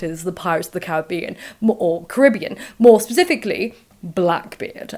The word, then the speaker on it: Caribbean: blame the Pirates of the Caribbean or technically Caribbean I met someone from the Caribbean recently uh on a PhD course and she says Caribbean so I'm going to say Caribbean throughout this but I've always